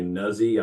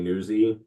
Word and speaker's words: Nuzzi: Her name's Olivia, and I say it wrong. I think it's Olivia Nuzzi. I say Newsy.